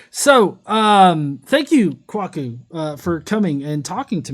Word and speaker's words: Kwaku: So it's actually Kwaku. Fun fact. So it's pronounced Kwaku. Oh, And, Kwaku.